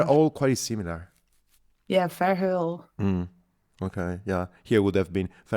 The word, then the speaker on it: Verheul: The first name is great, and then Verheul. But Verheul is a very Dutch name, and pronouncing the H in such a Dutch way is pretty hard for anyone outside of the Netherlands.